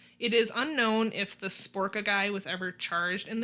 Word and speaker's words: Sbrocca: According to Kahlo, he and Majors had been hired to murder Angelo on the orders of Romano Sbrocca.